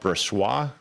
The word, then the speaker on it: Brossoit: Which is also one of the things where I was going to ask you about Brossoit.